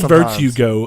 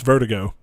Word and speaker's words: Vertigo: You said Virtue Go a minute ago for the game on the drop, and it's Vertigo.